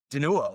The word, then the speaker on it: Danuo: You wanted to say Danuo. Danuo, totally. Yeah. Danu rhymes with poo was always how Christian Kugel would introduce it in meetings.